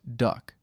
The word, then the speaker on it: DUKW: The key to beach logistics was the DUKW, an amphibious truck that soldiers pronounced duck.